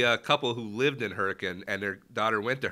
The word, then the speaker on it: Hurricane: spell hurricane right and everybody outside West Virginia cause hurricane yes but it's hurricane I was I was schooled on that there's actually a couple who lived in hurricane and their daughter went